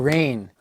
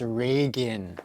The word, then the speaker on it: Reagan: It's not Rain or Ragoon. It's not Rayhan. It's Reagan.